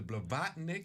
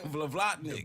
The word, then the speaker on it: Blavatnik: Business, the Blavatnik. I wanted to make sure I got that right. You said it right. All sir. right, Thank okay. you. Vlavlatnik.